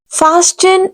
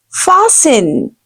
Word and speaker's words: fasten: Fasten is wrong pronunciation. You will have to say fasten. You will find it a strange perhaps, but this is actually correct pronunciation. The word is fasten. T will be silent, silent.